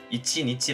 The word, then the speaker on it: 一: 숫자 1 의 경우 , " 이치 ( 一 )" 라는 읽기법 이 실제로 조금 더 자주 사용 됩니다 .